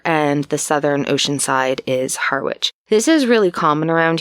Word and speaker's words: Harwich: it had originally been part of the town of Harwich in the UK you'd say Harwich but we pronounce it's a hard R for people who don't usually pronounce their R's we say Harwich or hawich and so Brewster was